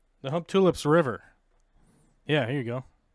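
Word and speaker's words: Humptulips: Try saying hump tulips, because that's the way you actually say it.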